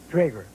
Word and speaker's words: Drager: And I've been saying your name wrong. It's Drager. That's right.